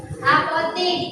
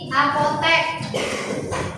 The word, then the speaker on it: apotek: Contoh yang tadi, seperti yang Ibu contohkan tadi, apotik, apotek. Yang benar itu apotek, bukan apotik. Tapi masyarakat sering nyebutnya apotik.